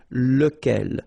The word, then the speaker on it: lequel: Okay, so remember, you've got to pronounce it lequel. Even if you get this QU, okay, remember that this U phonetically doesn't exist, so lequel.